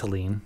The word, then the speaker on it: Helene: little flourish there um it's got the E on the end I think it's elen yes okay good tell them